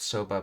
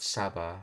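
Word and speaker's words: サバ: Not soba, but Saba. Okay. Yeah. Soba is the buckwheat noodles and Saba is mackerel.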